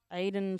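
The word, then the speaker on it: Aydan: Aiden Simons. It's A-Y-D-A-N, so I think that's how you pronounce it.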